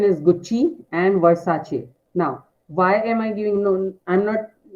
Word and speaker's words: Versace: So yes, the correct pronunciation is Gucci and Versace.